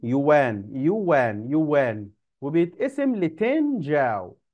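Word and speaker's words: 角: تن جاو تن جاو ما تنطقها زي ما مكتوبه بالعربي كده جياو لا هي جاو جاو جاو يوان صيني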